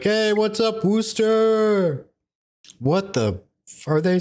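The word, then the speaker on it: Worcester: No apparently that's how it's pronounced by the locals at least.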